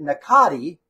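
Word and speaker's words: Nakiri: They pronounce it Nakati, like the R is with a T, but we call it Nakari.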